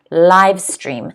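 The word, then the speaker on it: livestream: word is live stream live stream the stress is on the first syllable because the apostrophe is the first before the first syllable in the phonetic spelling okay so it's live stream i want all of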